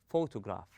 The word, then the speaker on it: photograph: So, where does the stress take place? It takes place in the first part on fo. We stress on fo. We place a strength or force on the first syllable and we go easy on the on the rest of the word.